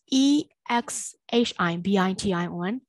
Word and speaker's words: exhibition: autumn column ပါဇက်ပိတ်ပြီးတော့ဆုံးတယ်။ပါဇက်ဖွင့်တဲ့ and နဲ့ဆုံးမယ်မယ်။အတန်တွက်ဒီပါဇက်ပိတ်ပြီးတော့အတန်တွက်ကိုဆုံးအဆုံးသတ်ပေးရတယ်။နောက်တစ်ခုကဒီမှာ h အတန် silent e x h i b i t i o n exhibition, exhibition, exhibition, exhibition.